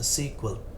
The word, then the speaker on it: SQL: An example of an SQL database is Microsoft's SQL Server, pronounced SQL.